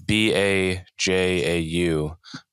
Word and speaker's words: Bajau: Have you heard of the I may be mispronouncing, but the Bajau people? No. It's Bajau.